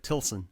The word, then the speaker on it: Tilson: Tilson? Yep. Is that right? Or Tilson? That's right. Tilson.